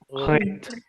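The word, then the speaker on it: Räte: And then how will you pronounce this word with umlaut? Rate.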